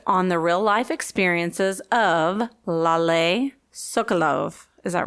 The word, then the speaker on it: Lale: I thought it was Lil from the book. I know, or Lale. Yeah. That's what I thought too, but I listened to it, and they pronounced it Lale.